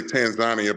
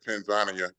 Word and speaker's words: Tanzania: I've been to, people say Tanzania, but the way they pronounce it there is Tanzania.